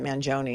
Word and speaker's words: Mangione: I found anyway that his Manon they pronounce it Manon and the reason I know that is because Nico Manon who is the cousin Luigi is a um he's a politician in Maryland and that's how he pronounces it because I found a